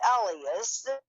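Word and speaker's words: Hellas: e l l s but I think they pronounced it Ellas the highest mountain in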